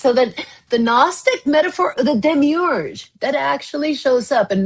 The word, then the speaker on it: demiurge: So that the Gnostic metaphor the demiurge that actually shows up in Gnostic philosophy the demiurge am I pronouncing that right?